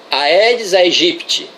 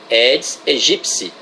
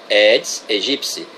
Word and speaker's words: Aedes aegypti: biologia têm culpa de aedes aegipty totalmente errada pronúncia edis e gypsy o peti é pronunciado psi é greco-latina pronúncia correta essa daí edis e gypsy então essas viroses têm